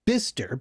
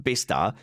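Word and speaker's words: Bicester: England in a town that apparently is called bister but is spelled by Chester and locals uh informing is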